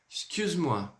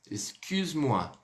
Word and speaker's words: Excuse-moi: Ou seja, a letra U, ela é pronunciada como? Com um leve biquinho.